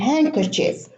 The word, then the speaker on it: handkerchief: So there is no D in Wednesday, in handsome, and in handkerchief.